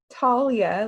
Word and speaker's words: Talia: pronounced it wrong earlier i said very southern like i said uh talia yeah talia like a tall tree antalya um is a